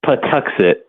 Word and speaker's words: Patuxet: Plymouth Patuxet Museums. That's the name of our museum. And what it does is Patuxet is the indigenous word of what is now known as the town of Plymouth.